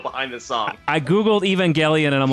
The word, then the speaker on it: Evangelion: Sorry, it's a hard G. Evangelion.